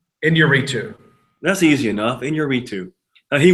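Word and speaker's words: Iñárritu: G how do you SP the last name pronounce the last name inuu that's easy enough inuu he won for Birdman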